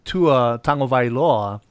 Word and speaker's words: Tua Tagovailoa: You know, but however, however, you have this this kid named Tua Tagovailoa. That's how you pronounce his name.